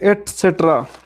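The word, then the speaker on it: et cetera: Okay, इसे pronounce करते हैं एटसेट्रा, ठीक है।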